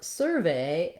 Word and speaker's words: survey: For survey as a noun, we have first syllable stress, and so this sur syllable is stressed, and it's written with UR in this word.